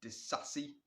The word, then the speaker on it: Disasi: Next player, confirmed, Disasi, that's how you say his name, to Chelsea.